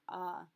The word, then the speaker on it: as: Note that our AS is still pronounced ah. We don't pronounce final S's.